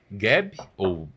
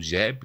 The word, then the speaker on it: Geb: E eles vão gerar os dois filhos, que vão ser Geb, ou Jeb, dependendo da pronúncia aí, e Nut.